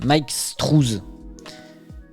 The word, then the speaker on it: Mike Struis: Mais qui est ce Mike Struis ? Qu'est-ce qu'il veut ? Ça se prononce Mike Strues.